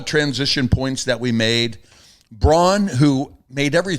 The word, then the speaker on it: Braun: like, the first, or Brown. I call him Braun. Because that's how it's spelled. You and Charles. It's spelled B-R-A-U-N. That's Braun. I played with the guy, Steve Braun. Right. It wasn't Steve Brown.